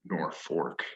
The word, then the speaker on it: Norfolk: back spelled that way but the stubborn germans and their ancestors to this day pronounce uh the name nor fork and so this uh